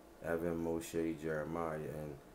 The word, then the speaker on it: Moshe: So not Moses for me. I pronounce him Moshe.